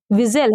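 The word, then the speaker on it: whistle: विजटेल क्या है विजटेल विजल है क्या है विजल है आप देखिए कि विजल में क्या साइलेंट है अगर मैं बात करूं तो विजल में एच एन टी साइलेंट है विजल हम लोग क्या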